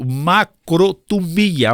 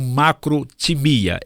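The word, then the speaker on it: μακροθυμία: é disposição ter paciência a palavra longanimidade no grego macromia alguns outros pronunciam macro temia Eu prefiro a pronúncia macromia então macro é uma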